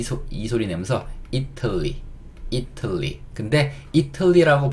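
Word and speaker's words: Italy: 이 T가 약간 리을 소리로 바뀝니다. 예, 그래서 이틀리. 이렇게 들려요. 이틀리. 이게 이탈리아입니다. 이탈리아라고 하면 못 알아들어요. 이틀리 이렇게 이틀리라고 발음하셔야 알아듣습니다.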